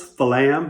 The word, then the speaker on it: flam: our predecessors our forefathers they created the word flam for two syllables falam because there's one low note and one primary note if we play these